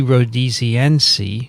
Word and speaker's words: rhodesiense: Rhodesiense. Named after Rhodesia.